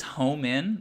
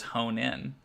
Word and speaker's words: home in: that's interesting it is it is home in oh i've been saying it wrong i thought it was hone in oh no who have